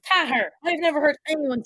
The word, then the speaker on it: Cahir: spell that way, but no, it's in it. It's Cahir. I've never heard anyone say Cahir. I know, and it's only of late people have been saying, so we're off to Cahir.